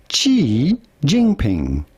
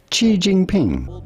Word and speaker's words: Xi Jinping: We are looking at how to pronounce Xi Jinping, commonly referred to in English as Xi Jinping.